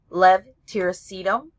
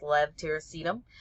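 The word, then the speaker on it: levetiracetam: of tegral or epitol Lev tyum which almost everybody mispronounces it's kind of a a hard one um even pharmacists had had trouble with that for a very long time but it's Lev tacum and that's known by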